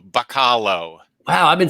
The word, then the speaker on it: Bachalo: I think it's Bach and like hollow, Bachalo. Wow, I've been saying it wrong for a long time. I've been saying like Bachalo.